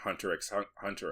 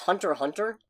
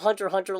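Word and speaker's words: Hunter × Hunter: lot of time in hunterx Hunter as a couple characters oh they're going to come for you apparently that's not how you pronounce it at all wait what I think it's just Hunter Hunter oh really yeah I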